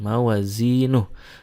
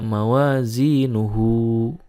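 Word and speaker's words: موازينه: Nah, h-nya di sini kalau diwasolkan itu jadi mad silah, tetapi kalau diwaqafkan maka dibacanya jadi sukun. mawazinuh tidak mawazinuhu.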